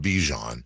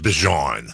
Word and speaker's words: Bijan: He said it's not Bijan. Yeah. It's Bijan.